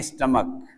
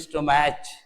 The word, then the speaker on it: stomach: रहे होंगे आप STOMACH, इसको पढ़ते हैं स्टमक, कुछ लोग पढ़ते हैं स्टोमैच, एकदम गलत हो जाएगा। तो हमारा प्रोनाउंसिएशन बहुत सही होना चाहिए, जिससे कि हम अच्छे से अपनी इंग्लिश को पॉलिश कर सके। प्रोनाउंसिएशन खराब है तो हम नहीं कर पाएंगे। इसको स्टोमैच मत पढ़िएगा, ये है स्टमक, स्टमक का।